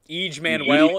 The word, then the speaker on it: EJ Manuel: drive from EJ Manuel each Manuel is how you pronounce his name and he's no good